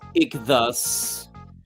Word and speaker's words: Ichthus: It's pronounced Ichthus. I used the 5 as an S.